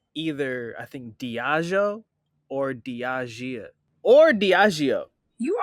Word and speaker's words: Diageo: is, once again, though, I said Diego like 15 times before somebody just jumped in. I just now Chelsea, saw how it was spelled. How do you say it? Now. How do you say it? And it better be right, too. It's Diageo. Diageo.